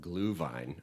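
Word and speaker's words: Glühwein: And uh the Germans, as they say in the movie, they call it glue vine. I'm sure I'm saying it terribly in German, but meaning glow wine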